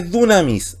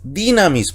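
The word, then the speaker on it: δύναμις: No dije dunamis, dinamis. ¿Por qué? Delta, consonante, Y está antecedida por una consonante, entonces pasa a ser Y.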